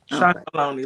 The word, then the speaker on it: Chocolonely: Chocolonely, like bologna.